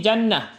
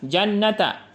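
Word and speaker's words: جنة: Karena ketika wakaf di sini contohnya syajar syjarata menjadi syjarah menjadi ha, jannata menjadi jannah. Jadi pengucapannya menjadi huruf H. Contoh di sini surah Al-Insan ayat 12. Waazahum bima shobaru jannah. Jadi bukan jannata.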